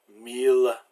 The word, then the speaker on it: mille: But there's a few exceptions where il is pronounced like I followed by an L, like in the words ville and village, mille, so this is city and village, mille is like a mile, tranquille, oh no, mille is 1,000, is the normal meaning for 1,000, and tranquille is quiet and peaceful. Those are pronounced like the L.